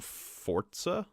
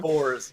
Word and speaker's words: Forza: They lost to Forza? I'm going to keep pronouncing it wrong. Fours. Yeah. It's just fours. It's Forza. I'm adding some at the end there, too.